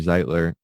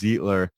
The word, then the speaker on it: Zeitler: um just at zeitler zdi tler cause i i've been people have been spelling or pronouncing my name wrong probably since i was a kid everybody everybody always says zietler um but yeah my